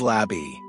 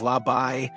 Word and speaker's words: Labby: Without hesitation, Labby responded, "My name is Labby." The orb, however, mispronounced it as Labai. Labby bristled and immediately corrected it.